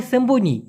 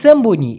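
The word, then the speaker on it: sembunyi: লুকানোর ক্ষেত্রে বলা হয় সেম্বনি কোন জায়গায় লুকায় গিয়ে কুক কুক নাও দিলে খেলবো না সেইটাকে বলা হয় সেম্বনি এস ই এম বি ইউ এন ওয়াই উচ্চারণটা হবে সেম বুন ই সেম্বুনি অথবা অন্তিতে রশি দিতে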